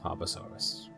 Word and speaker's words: Tarbosaurus: Let's make sure the pronunciation. Tarbosaurus. Tarbosaurus, correct.